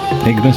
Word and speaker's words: Ignis: runners obviously the Suzuki ignis ignis I that's the right way to pronounce it uh seat bases aren't